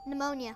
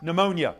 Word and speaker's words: pneumonia: infection of the lung a p initial disease whose p is silent Thomas stone pneumonia pneumonia yes p-n-e-u-m-o-n-i-a good spelling B word go again red science potpourri for 15.